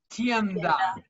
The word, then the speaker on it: tienda: Tienda. Tienda. Like the word tend. tienda.